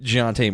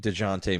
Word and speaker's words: Dejounte: You said Jonte Murray, which DeJounte Murray. Yeah. Yeah. So I heard it pronounced on PTI Jonte Murray, so maybe I fucked it up. I shouldn't have listened to that.